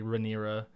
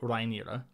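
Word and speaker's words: Rhaenyra: we still disagree because like you say rain I usually say reira yeah um and the proper valan pronunciation I believe would be rira and and yeah I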